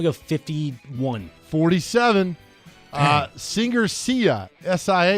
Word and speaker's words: Sia: S-I-A. Is that how you say her name? Sia? Like Sia. See you later.